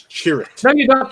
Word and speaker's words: Chirrut: The answer is the Guardians of the Wills, but I got to correct your pronunciation. It's Chirrut.